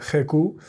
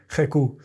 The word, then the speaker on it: GQ: I'd always dismissed the style as an affectation, something you'd see in the glossy pages of Jecu or online. Isn't that hilarious? That's how some Spaniards pronounce GQ, Jecu.